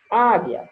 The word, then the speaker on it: águia: linguiça e tranquilo certo a palavra águia ela tem um mas eu não pronuncio o o já na palavra linguiça ela tem o e eu pronuncio o certo é importante prestar